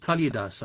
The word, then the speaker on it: Kalidasa: this one was by kalidasa usually pronounced kalidasa i've never heard it or heard the a pronounced and the second poet